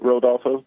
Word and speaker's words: Rodolfo: pronounce your first name? The way you said it, Rodolfo.